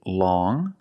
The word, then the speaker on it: long: First, we see long with the sound which is a nasal sound.